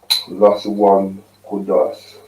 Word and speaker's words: Lashawan Qadash: Lashawan Qadash. We're going to in both the English and in the ancient Hebrew. I'm going to get a bit closer so you guys can see. Lashawan Qadash.